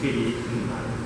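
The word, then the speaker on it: Kdenlive: I'm sure there's lots of fights about how to pronounce that. It's KDE Live.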